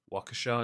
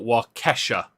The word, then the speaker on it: Waukesha: wisconsin i can't pronounce the word waukesha is that it yeah okay no not wakasha like the singer um i'm gonna read